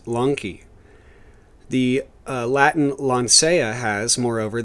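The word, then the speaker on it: λόγχη: for the spear itself in greek log che pronounced lanky the latin lancea has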